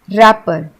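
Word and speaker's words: wrapper: अब इसको हम रैपर नहीं बोलते हैं, क्योंकि इसमें डब्ल्यू साइलेंट है, हम इसे बोलते हैं रैपर।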